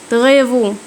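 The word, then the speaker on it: travaux: تغيفو نطقت الاي يو او، تغيفو اعمال.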